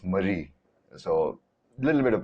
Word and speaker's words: Marie: You say Mary, and then with an IE, it's Marie. So a little bit of pronunciation because like IE is usually the French spelling and Y is usually the westernized spelling.